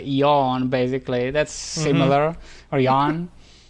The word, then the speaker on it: Jan: But he pronounced your name Jan, and Ah. I'm trying to say like to tell him the Jan. difference. I think you're thinking it's like it's yawn. Yawn.